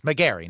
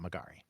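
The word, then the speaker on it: Megarry: I appreciate as well yes mgar not margari very good and so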